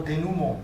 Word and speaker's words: denouement: Han's one, the Chinese one was less of a cop-out, because the Chinese one was, how do you pronounce the English word, denouement? Oh, denouement.